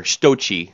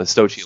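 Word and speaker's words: Sochi: still fighting over there stoi that's by the way that's how you say it the stoi Olympics the the Big World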